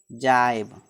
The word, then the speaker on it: gybe: ठीक, नेक्स्ट देखिए, GYBE, जी के बाद क्या है? वाई है ना, तो GYBE, जाइब।